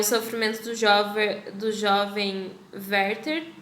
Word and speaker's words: Werther: dos jovens dos jovens verter eu imagino que aberta é porque ele alemão e lá se pronuncia o w como ver então a gente seja